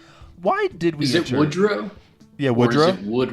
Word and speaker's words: Woodrow: It's It's Wood Row. You're right. Um, nobody's named that anymore. But I do think that's probably like a regional pronunciation thing.